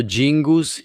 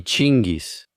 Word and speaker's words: Genghis: He escuchado Jingus y Chingis. Yo solo voy a decir Genghis porque soy estadounidense, ¿de acuerdo? Y así es como lo llamamos.